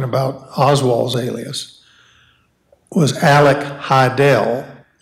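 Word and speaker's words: Hidell: Oswald's alias was Alec Heidel h-i-d-e-l-l as in rhymes with Fidel and he he he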